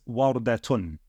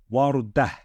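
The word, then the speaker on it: وردة: So, if this was the last word in a part of speech or in a sentence, then we wouldn't pronounce it as warudatun. How would we pronounce it? We would pronounce it as warudah. Warudah. Okay? Warudah. We would pronounce it as if it's just a ha with a sukoon above it. That's if it's the last word in a sentence.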